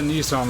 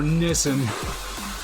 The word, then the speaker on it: Nissan: red logo up on it is not the Nissan logo or Nissen depending on how you pronounce it see look right here that is